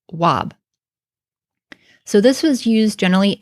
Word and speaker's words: wab: used well this was used for the sounds w9b in modern times we pronounce this wob so this was used